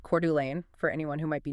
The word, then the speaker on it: Coeur d'Alene: in Spokane and Coeur d'Alene, and uh that's pronounced Coeur d'Alene for anyone who might be new to the region.